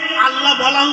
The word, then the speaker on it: আল্লাহ: ইংরেজিতে বলা হয় এনালাইসিস তো আল্লাহটা আসলে ছিল আলা তো সেটাকে তাসদিদ ব্যবহার করে আল্লাহ বলা উচ্চারণ সহজ জন্য তো আল্লাহ বললেন হে